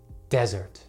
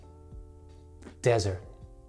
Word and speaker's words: desert: dessert first of all notice that they are actually pronounced differently desert desert dessert dessert now a